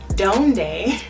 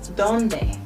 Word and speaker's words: dónde: Now, with the actual D at the beginning of the word, it's going to be with your tongue underneath your teeth rather than in American English how we would say donde. Instead you want to say the donde.